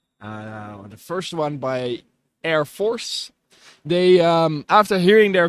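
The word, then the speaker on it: ER-Force: team from a long not pronounced e Force as some might believe but Air Force play on words to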